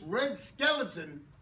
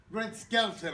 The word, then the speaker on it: Red Skelton: something is that she's in this red skeleton Red Skelton I should say thank you that skeleton he starts in this from general Red Skelton notice I pronounced it correctly Red Skelton was basically